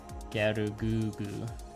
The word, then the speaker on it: Gelgoog: Yeah, Gelgoog. Yeah, I believe the Japanese characters pronounce it like Gerugugu. Master Grade EX Unicorn, yeah, that's one you gotta save up for.